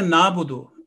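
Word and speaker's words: نَعْبُدُ: So when we are pronouncing iyyaka na'budu, if we pronounce ayn as alif, it will make the sound totally different.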